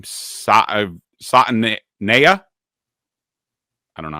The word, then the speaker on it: Savaiinaea: Savaiinaea. I don't know how to pronounce it. But anyways. Savaiinaea.